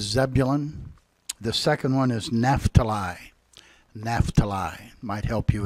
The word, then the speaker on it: Naphtali: name there is Zebulon the second one is NAFTA lie NAFTA lie might help you as we read that if you know their correct pronunciation alright we're going to read those two